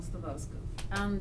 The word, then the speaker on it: Stawarska: How is it pronounced? Stawarska or Stawarska?